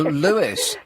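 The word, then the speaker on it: Lewes: Oh, Lewis.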